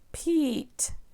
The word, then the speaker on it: Pete: This is the E, other letter, silent E pattern. So this is when E is separated with another letter and then silent E comes to help E say its long sound.